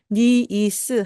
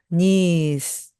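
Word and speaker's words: niece: 이렇게 발음이납니다 이때 여러분들이 니 이스 하고서 한 박 한 박 한 박 이렇게 똑같이 발음을 하시면 절대 안 됩니다 니스 니스 하고 발음하여 됩니다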